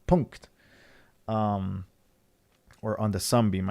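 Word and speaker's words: Punkt: mpc or punk'd mp02 as i learned that that's the actual pronunciation punk'd um or on the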